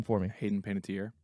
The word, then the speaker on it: Panettiere: I can say her name for me Hayden Panettiere Panettiere thank you it's a it's early trust me